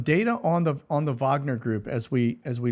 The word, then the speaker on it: Wagner: Wagner paramilitary group okay I pronounce it Wagner the W is really a v it's German it's uh it's it has germanian uh Roots okay that's where that surname comes from so it is no